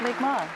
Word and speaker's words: Mi'kmaq: And now, Chief Edward Peter Paul of the Micmac Nation, or pronounced Mi'kmaq Nation.